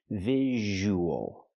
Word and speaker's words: visual: visual. We have the long ooh sound plus the. So we have the ww sound in the middle linking to vowels. The w sound like what and when.